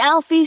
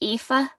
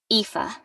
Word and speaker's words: Aoife: say here i am is it alfie sweetheart did i get that right it's ifa i say ifa i have to say it a lot grown-ups never get it right oh okay eva why